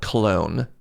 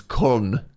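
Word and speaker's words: Köln: as the Germans would pronounce it. K. K. It's like K and then O with the two floaty eyes above it. L N. Yeah, the the English call it clone and the Germans colon.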